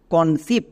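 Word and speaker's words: conceive: এখানে দেখো ভাওয়েল ই এবং ঠিক তার পাশে আরেকটি ভাওয়েল আই আছে, তার মানে এটা হচ্ছে ভাওয়েল ব্লেন্ডিং ওয়ার্ড, এর জন্য হস্যই সাউন্ড হবে। চলো উচ্চারণ করো সি ও এন, কন। সি ই এর জন্য হয়ে যাবে দন্ত সো। নেক্সট এবার দেখো ই আই, ই I vowel blending word, এর জন্য হস্যিকার বসিয়ে দাও, ভি এর জন্য ভো এবং শেষের ই সাইলেন্ট, তাহলে এর উচ্চারণ কি হলো কনসিভ, কনসিভ। সো টিপস যদি মনে রাখো,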